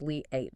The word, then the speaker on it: Liat: The sources we examine suggest that the Liot show which is led by Leat portal and it's pronounced Lee 8 just so everyone knows Leah its position as something more than just say a publishing project.